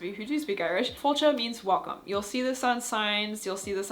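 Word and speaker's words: fáilte: fun, you'll want to know what slancha and fultcha mean. Fultcha uh spelled f a i l t e and I apologize for my Irish pronunciation for those of you who do speak Irish. Fulcha means welcome.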